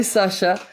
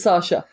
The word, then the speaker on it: Sasha: It's Sasha, not Sasha.